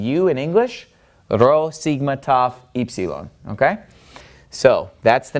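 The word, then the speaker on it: ταυ: group I like to remember is Rho Sigma Tov eeep Ceylon and the reason I like these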